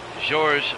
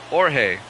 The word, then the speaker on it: Jorge: George Lopez and Joe Nathan warming up. That's Jorge Lopez. Got to pronounce that right.